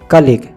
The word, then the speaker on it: colleague: कलीग या फिर कॉलेग, COLLEAGUE, कलीग या कॉलेग। हम इसका प्रोनाउंसिएशन या तो कॉलेग बोलेंगे या कलीग।